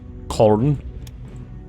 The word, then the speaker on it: Köln: We sank the Hanover and the Köln. Köln? I think that's pronounced like an E.